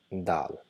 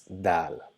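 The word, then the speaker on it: دال: Though we are writing it as English equivalent D, but it's not exactly D as in den, but the sound the as in letter the itself. Okay, so this letter the. So how do we pronounce Dal?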